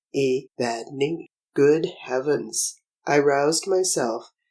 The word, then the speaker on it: Evadne: word in my heart, a word of just 3 syllables, the accent being on the penultimate Evadne, Evadne.